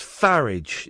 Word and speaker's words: Farage: Well, no, it's pronounced like garage, so it's Farage.